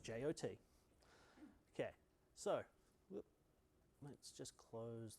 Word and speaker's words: JWT: It's called a JOT token. It's the first line of the spec for the JOT spec. It's pronounced JOT.